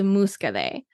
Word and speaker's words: Muscadet: you're going to find is Musa and it's spelled like muscadet it's m u s c a d t this wine is made